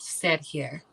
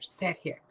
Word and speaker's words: Sihr: Yeah, like with sit here. Sit here. I'm gonna spell it out in the chat. It's Sihr. Sit here.